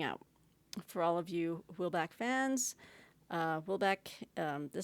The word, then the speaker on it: Houellebecq: But when I saw this, I kind of wanted to go on I think you pronounce his name Houellebecq, like Michel Houellebecq, reading.